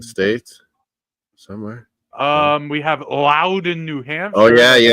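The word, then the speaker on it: Loudon: It's not the It's definitely Louden, not London.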